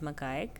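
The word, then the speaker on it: macaque: the lion tail ma Mak Mak you can pronounce it makek the sil the lion tail Ma and address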